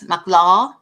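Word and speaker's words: Mahlah: named her makla or mclaw it's spelled like mala but as mclaw in the hebrew rendering and so i looked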